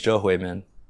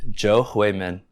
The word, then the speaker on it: Zhou Huimin: Her name's Jo Hui-min. Say it again? Jo Hui-min. Spell it.